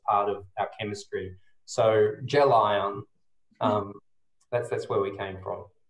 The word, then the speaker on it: Gelion: Why don't we talk about Gelion while we're at it as well then? Well, you've done well to pronounce it correctly, because a lot of people